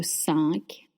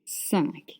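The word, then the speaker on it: cinq: 5 is spelled C-I-N-Q. 5. It means 5, and you have this un sound that we talked about before. The un is a closed sound. Your lips are stretched and your mouth is closed.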